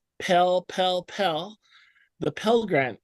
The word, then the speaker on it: Pell: Probably the most famous grant that you guys know of is probably the Pell Grant. Rhymes with smell. Pell, Pell, Pell.